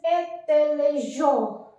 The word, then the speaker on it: intelligent: Now the next is intelligent. In this we are like pronouncing this double N.